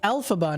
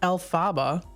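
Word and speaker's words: Elphaba: wrmn am1 1410 it's alphaba not Alaba oh my gosh I am so much like Ron Weasley it's Leviosa not Leviosa it's alphaba not Alaba yeah I know you know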